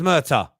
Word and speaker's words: Murtagh: into this one murder so it is pronounced murder johnny donny was right see